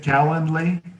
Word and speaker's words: Calendly: Did you ask, is it Calendly? Yeah. Oh, how do you spell it?